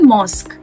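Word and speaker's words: mosque: right तो मस्जिद का इंग्लिश वर्ड होता है मॉस्क यस so everybody this is the rule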